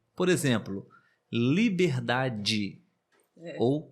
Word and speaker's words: liberdade: e por exemplo em liberdade ou saudade nós falamos assim de forma natural saudade liberdade mas na verdade se escreve